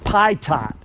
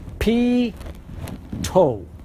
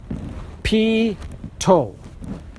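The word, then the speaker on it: pitot: of me mispronouncing it it ain't pronounced like it's spelled you would think it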